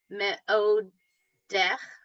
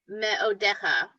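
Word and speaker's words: מְאֹדֶךָ: meodech, One more syllable. Ma'odeh. meodecha.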